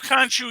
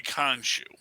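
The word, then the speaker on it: Khonshu: kanju that we're observing actually kanchu or kunsu as some people on the internet say his name should be pronounced i don't know i'm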